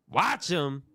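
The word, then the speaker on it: Wachum: to Paris Dame next this is called watch but it's spelled w a c h u m see what I'm saying watch him he he be having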